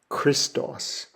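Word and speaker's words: Χριστός: the next letter is a kai and it makes a a CH sound like a a hard C Sound a and it's the first letter in the the name for Jesus the Messiah the Christ Christos Christos the next letter is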